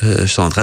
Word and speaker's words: Chandra: Voilà, ça s'écrit C-H-A-N-D-R, donc je veux dire Chandra.